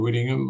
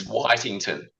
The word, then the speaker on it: Whitington: I remember it distinctly, Chair, because on that occasion you mispronounced my name as you're still doing, but it's a very common error. Oh, there you go. It's Whitington.